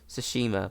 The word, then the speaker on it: Tsushima: You play as Jin Sakai, the last samurai on the island of Tsushima. Yeah, that's how you say it. Shush, like a shh.